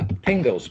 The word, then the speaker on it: pingo: Yeah, pingos, P-I-N-G-O. It rhymes with bingo, starts with a P.